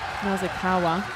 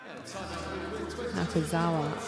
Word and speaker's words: Nakazawa: Skip pass across to Nazakawa. Nakazawa, I should say. My apologies for mispronouncing his name.